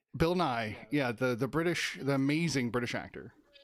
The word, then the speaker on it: Nighy: I believe his name is pronounced Nahi though. I've heard it both ways, and until I hear him say it, I'm gonna say Nye.